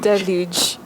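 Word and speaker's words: deluge: Del dele oh you say dele Okay Del dele Del not dele notag not L you say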